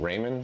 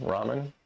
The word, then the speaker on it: Raman: I have no idea how you pronounce that. Raymond. Ramen. Ramen. Ramen. Like ramen noodles.